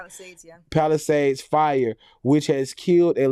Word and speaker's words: Palisades: right am I saying it right palad yeah Palisades fire which has killed at least eight people